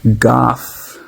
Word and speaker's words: Gough: We're g u gh's [cough and clears throat] rhymes with cough goth.